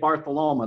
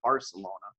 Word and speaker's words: Barcelona: Florence Pisa Rome bartholow ma I do say Martha Loma that's the correct pronunciation not Barcelona oh good to know fun facts Marseille France